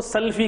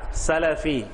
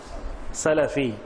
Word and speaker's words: سلفی: ایک لفظ ہے سلفی۔ کچھ لوگ اس کو سلفی کہتے ہیں، غلط ہے۔ لام کے فتح سے کہیں آپ سلفی، سلفی، اس کا نطق اور پروننسیشن وہ صحیح ہونا چاہیے۔ سلفی لفظ ہے، سلفی نہیں بولیں گے، سلفی۔ تو یہ سلفی کیا